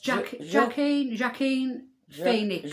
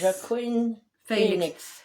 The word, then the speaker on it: Joaquin Phoenix: Can you pronounce his name, Janet? It's Joaquin Phoenix. Joaquin Phoenix.